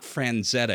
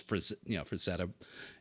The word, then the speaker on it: Frazetta: Just because it's one of those things where I'd been calling it Franzetta my whole life, and it's Frazetta, and just all of that stuff, but yeah, it's got the most views.